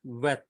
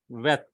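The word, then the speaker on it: ב: So sound it gives is V sound in VAT. Or you can say V sound in victory.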